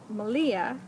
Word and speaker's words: Malia: be doing this with malia rhymes with maria yarn raising when she